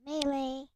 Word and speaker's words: melee: and Ninja Turtles Mutant Melee. Where does the word melee come from? And why why is it why is it pronounced like that? It sounds so weird. It It sounds like ballet.